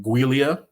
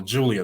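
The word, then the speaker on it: Giulia: told me about her I'm going to try to say her name guia because I've been calling her Julia the whole time so I'm say guia I know she's uh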